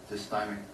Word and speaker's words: dysthymic: But that's kind of the picture of what it goes through the mind of somebody that has dysthymic disorder. And that's the correct pronunciation.